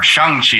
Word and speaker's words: Shang-Chi: Like sometimes, like, oh, that's Simu Liu, but then there were points like, he's Shang-Chi, or Shang-Chi as it's pronounced in the movie.